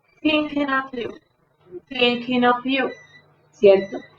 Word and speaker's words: Thinking of You: Esa TH, lengua entre los dientes. Thinking of you.